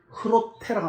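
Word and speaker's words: Groote: 치대 efk 지휘라는 얘기예요 질을 네덜란드는 h로 읽습니다 그래서 우리는 독일에서는 흐로테라고 합니다 h 발음으로 그렇게 그래서 같은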